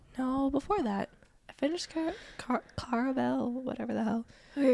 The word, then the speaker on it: Caraval: It's not Caraval, it's something else. Caraval. It's like caramel.